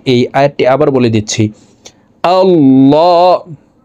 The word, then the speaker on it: আল্লাহ: প্রিয় দর্শক, এখানে দেখুন আল্লাহ, এই লামকে ল বলে পড়তে হবে, কারণ আল্লাহ